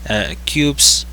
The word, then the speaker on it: QQQ: industrial average ticker dia cubes uh basically pronounced uh cubes based on the nasdaq